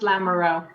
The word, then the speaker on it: Lamoureux: it's fine it's hard it's pronounced Lamoureux Lamoreaux that it's just